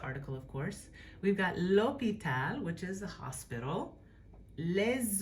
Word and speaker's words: l'hôpital: it's silent, we've got l'hôpital. So this will let you know that you don't pronounce that H.